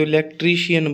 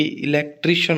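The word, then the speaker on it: electrician: जैसे अब इलेक्ट्रीशियन है ना, अपने तो इलेक्ट्रीशियन बोलते हैं, जबकि इलेक्ट्रीशियन होता है।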